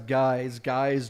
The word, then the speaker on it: GYX: It's GYX. That's how you pronounce Guys.